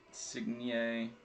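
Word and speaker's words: Insigne: one's not numbered either it's not insignia silent g all right next we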